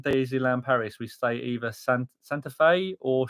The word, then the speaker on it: Santa Fe: We stay either Santa Fe or Cheyenne. Oh, well done. You pronounced them correct, you.